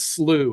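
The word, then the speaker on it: slough: historical department talks about the term is slooh it's spelled s u g but Prairie sloes around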